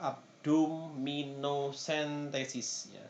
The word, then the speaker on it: abdominocentesis: cairan yang berlebih misalkan tindakan pembedahan abdominocentesis Hai pengucapannya adalah abdominocentesis yaitu tusukan atau tidak pembedahan dengan menusukkan menusukkan